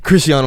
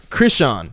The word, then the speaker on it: Christian: I saying it right Christian Christian rock it's like Chris and then Sean Sean they didn't know who the daddy was so it was both Chris and Sean yeah hey Sean is